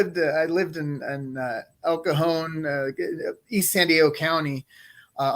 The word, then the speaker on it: El Cajon: el cajon that's how you say it yes el cajon yep absolutely and so um like is so